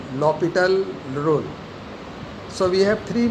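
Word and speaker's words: L'Hôpital: Actually, a student used to write L hospital, but HOS is silent here, so we read as L L'Hopital rule. L L'Hopital rule.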